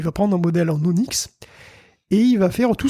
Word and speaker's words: ONNX: d'esperéranto du Deep learning c'est Onix donc Onix ça ça s'écrit onnx et on s'en sert